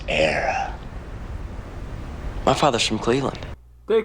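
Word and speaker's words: Éire: The land of your fathers isn't Erie, boyo. It's Era.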